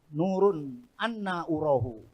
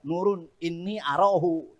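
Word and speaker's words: نور أنى أراه: Kalau dibaca nurun inni arahu, jadi nur. Bacanya bukan nurun inni arahu, nurun anna urahu.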